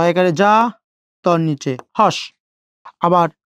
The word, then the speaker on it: যাত্রী: আবার বলে দিচ্ছি, এই জ থাকলে বর্গীয় জ উচ্চারণ করতে হয়। তাহলে জ একারে যা, তর নিচে হস।